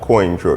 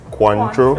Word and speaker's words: Cointreau: help me pronounce it is not coin true it's cuantro it's but it's pronounced it's french it's french